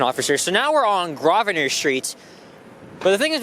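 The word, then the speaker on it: Grosvenor: I think it's called grosvener but no it's graer right you have to remember guys the S is silent by speaking of a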